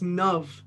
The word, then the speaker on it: Nav: long we haven't talked so my name is pronounced nav and i just used to never correct i'm